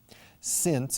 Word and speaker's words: since: And the pronunciation is exactly the same as 2 other words. Since, escrito sin C, que es desde que o puesto que.